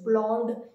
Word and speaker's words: blond: The word is blond, blond.